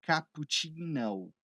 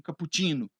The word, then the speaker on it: cappuccino: conseguiria dizer tranquilamente o seguinte: primeiro, né, a pronúncia aqui, né, cappuccino, porque a gente está falando em inglês, então você não vai chegar lá e pedir um cappuccino, cappuccino.